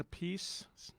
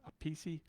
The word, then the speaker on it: Appice: Can't pronounce that last name like that. Appice? A piece of cake? Piece of pizza? That's why I don't like pronouncing it like that. It sounds like a piece of pizza because we're Italian.